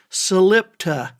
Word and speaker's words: Salitpa: But as God is my witness, I don't think there is a person living in that place who doesn't pronounce it Salipta. Salipta. But it's not, that's not how it's spelled.